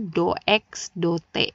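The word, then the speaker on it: dx/dt: Dibacanya apa? Do X do T, bukan do X dibagi do T.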